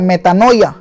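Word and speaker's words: μετάνοια: arrepentimiento viene de una palabra griega que se pronuncia metanoia y quiere decir cambio de mente cambio de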